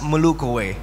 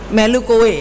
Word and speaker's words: melu kowe: penting usaha, mugi-mugi sukses melu kue. Melu kue, mesti dilatih lagi. Terima kasih, silakan Bu Gusti. Terima kasih Mas. Bahasa Jawanya sudah oke, cuma tinggal pronounce-nya Mas. Melu kowe gitu.